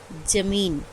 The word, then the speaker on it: ज़मीन: सब है जमीन है तू इसका उच्चारण कैसे करते हैं ज़मीन उ हैं और इसमें नीचे हम एक बिंदु लगा रहते हैं इसका रिच इन